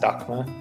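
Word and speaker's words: Daxma: in two bands right now one is called docma it's spelled d-a-x-m-a though um but pronounced dhaka and that's his project and then he's also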